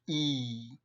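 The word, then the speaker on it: ஈ: the house fly and e is pronounced as uh as we normally pronounce e so with a longer with a slight stretch e so after uh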